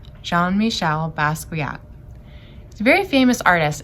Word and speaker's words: Jean-Michel Basquiat: the artist jean-michel basquiat we say his name john michelle basquiat he's a very famous